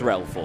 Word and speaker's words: Threlfall: It's Threlfall, yes, it is Threlfall. Yes, I was saying it wrong.